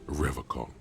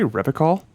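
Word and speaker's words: Revachol: He pronounces Revocol with a hard K, unlike other people. Did you just say Revocol?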